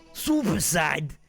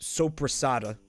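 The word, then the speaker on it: soppressata: Super side. The Italian meat. The Italian deli meat that we call super side. Which is actually called, it's pronounced sopressata.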